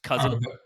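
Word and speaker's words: CuZn: uh his uh Alias is written kin uh that's the because that's copper and zinc that's brass um but it's pronounced cousin that's that's kind of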